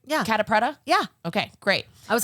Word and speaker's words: Catta-Preta: I met Jade this is Jade am I pronouncing your name right kpra yeah okay great I was like yeah Jade